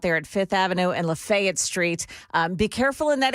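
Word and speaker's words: Lafayette Street: It's downtown this morning on Fifth Avenue South and uh Lefayet Street. That's how you say it around here, right?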